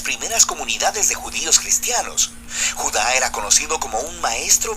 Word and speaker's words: Judá: Judas, o más precisamente Judá, de acuerdo con la pronunciación de su nombre tanto en griego como en hebreo.